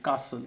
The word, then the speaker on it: castle: T is silent. Castle.